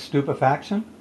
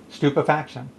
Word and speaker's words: stupefaction: of the day is stupefaction St you pe FAC tion stupefaction stew fat shun stupefaction it's 12 letters four syllables and it means the